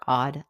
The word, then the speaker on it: AWED: Hi, I want to welcome you to the Odd Life Podcast. That's spelled AWED, which stands for Awake, Well, and Empowered.